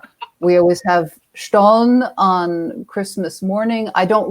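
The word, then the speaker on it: Stollen: I think I've heard it pronounced stolen, which probably just means yes, I should say translation stolen, but it's actually Stone.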